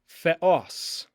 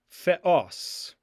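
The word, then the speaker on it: θεός: Theos. Theos.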